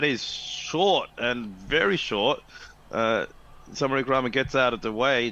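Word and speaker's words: Samarawickrama: to pronounce his surname, Samara Wickrama, but you say it quickly, Samara Wickrama. Sir, that's a W that sounds like a W?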